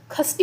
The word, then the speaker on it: षष्ठी: के आगे आते हैं तो इनको हम खष्टि पढ़ते हैं ना ऐसे खष्टि पढ़ते षष्ठी नहीं पढ़ते खष्टि पढ़ते